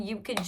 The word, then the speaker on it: Yuka: I'm Yuka type stuff. People be like, Yuka, like, how do you even pronounce that? Is it like eucalyptus? I'm like, yes, yes.